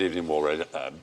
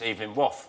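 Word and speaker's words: Evelyn Waugh: I was just checking whether or not you'd remembered not to mention It's not wars. pronounced like that, is it? It's Evening Waff. No, if only it were.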